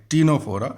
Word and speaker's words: Ctenophora: और देखिए सी साइलेंट है और यहाँ CTENOPHORA, टीनोफोरा सी साइलेंट है।